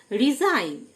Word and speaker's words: resign: রিজাইন, RESIGN, G silent.